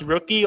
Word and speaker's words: Rookie: Is it pronounced rookie or lucky? And like in Korean, they pronounce it as Lucky, but like if we have to say it in English, it's Rookie.